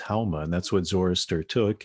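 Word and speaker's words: haoma: In Farsi they don't pronounce the s, they pronounce it like an h, so soma becomes hauma, and that's what Zoroaster took and also had revelation.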